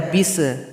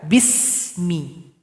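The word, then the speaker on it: بسم: yang pertama di sini ada huruf Sin jangan dipantulkan B bis enggak boleh dibaca bis harusnya dibaca Bismi jadi alirkan bunyi nafas kita Bismi tidak boleh tawallud tawallud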